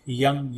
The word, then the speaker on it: यं: उसे यम कहते हैं कुछ लोग उसे यंग कहते हैं लेकिन याद रख य के ऊपर बिंदी है इसका मतलब य के बाद बाकी के जो शब्द है व नाक से बोलना होता है यंग यंग यंग यंग